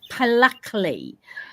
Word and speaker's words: Pluckley: Pluckley.